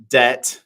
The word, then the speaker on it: debt: a four-letter word Stacy it um rhymes with bet it is De debt yes yes um yeah